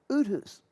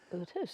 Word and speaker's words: Outhouse: only they pronounce it Uthus. Uthus, because it's very German, or I would imagine.